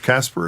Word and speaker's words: CASPR: CASPR is how you say the acronym?